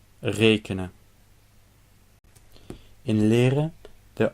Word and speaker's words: rekenen: In rekenen, the last 2 vowels are suppressed, so the E cannot be long.